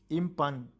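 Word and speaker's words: impugn: इम्पंग कहते हैं इम्पन, जी साइलेंट होगा।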